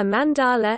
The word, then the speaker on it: mandala: A mandala, emphasis on first syllable, Sanskrit mandala, mandala, literally,